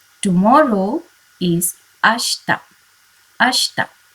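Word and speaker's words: あした: cure q tomorrow is ashta ashta it is not ashita you have to pronounce it as ashta day after tomorrow now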